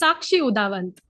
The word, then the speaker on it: Sakshi Udavant: Today we are met today by Sakshi Udavant. Did I pronounce that correctly? Yeah. Yeah. It's Sakshi Udavant.